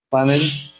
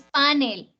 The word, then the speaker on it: panel: Panel. Panel, ¿cierto? ¿Y cómo es? Miren. Es aguda. Entonces no es panel, sino Panel.